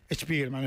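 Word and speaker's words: Spiegelman: Estuvo en Argentina Spiderman estuvo en Argentina el amigo Art Spiderman y Spiderman es verdad se pronuncia así.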